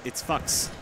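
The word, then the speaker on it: Fuks: It's actually, it's Fucks.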